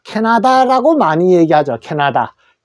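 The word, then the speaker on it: Canada: 카나다인데 실제로 영어에서는 이렇게 캐나다라고 합니다. 캐나다.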